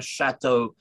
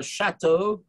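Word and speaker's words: château: it's a real castle difference between our chateau or chateau as the old way of pronouncing it is because as you know the circumflex accent means that there's an s missing castell originally you see so it is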